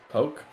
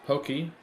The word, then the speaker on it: Poke: Poke. Not pronounced Pokey.